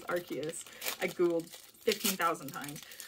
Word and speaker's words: Arceus: guys been playing um arceus which by the way is formally how you pronounce it in english as arceus i googled 15 000